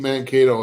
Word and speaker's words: Mankato: Yeah, Minnesota State Mankato is how they say it.